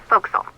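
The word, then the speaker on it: forecastle: ship but it's pronounced fil why is that try pronouncing it like an English sailor with no formal education F Castle fil over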